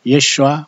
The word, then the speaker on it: 예슈아: 예수님은 메시아 다른 뜻인 것 아뇨 히브리 말로 예슈아 마샤 예수 아마 샤아 이슈화 맛이 아 이게